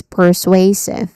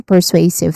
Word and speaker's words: persuasive: Pronunciation wise there is three sounds start with purr. So purr, it has a short a vowel sound. And then sway, which is a stressed syllable here, so you say it a bit louder. It has a dip thong sound at the end. Sway. And then lastly is civ. Civ. It has a short e vowel sound here.